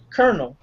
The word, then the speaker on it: colonel: like like uh like uh Colonel. Colonel is spelled as Colinell, but it's pronounced colonel.